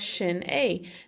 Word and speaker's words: sin é: So this looks like the word sin in English, but in Irish that first S gets an SH sound often, so it's shin.